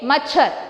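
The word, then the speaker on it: मच्छर: Okay, machhar. Your stress is keeping in this cha, not this cha.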